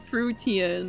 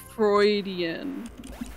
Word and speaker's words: Freudian: are fish but mermaids you're the one who thought it was pronounced fruitian okay and what does that have to do with vicky frogs everybody knows that it's pronounced freudian literally jay didn't know